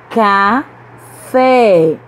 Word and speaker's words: café: Café. Café. A sílaba forte é a última, então essa palavra é oxítona.